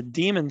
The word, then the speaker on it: daemon: hear people pronounce it damon but it's actually proper to pronounce that demon the the trick with this is that a demon thread will prevent the